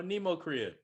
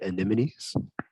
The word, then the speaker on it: anemones: you know you know nemo korea i don't get how they're alive you mean to say anemones that's what i said yeah you added like seven extra syllables you started you started